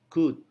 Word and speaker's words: could: Contoh pengucapan D ada pada kata-kata seperti dan, middle, bid. Kemudian LD seperti could.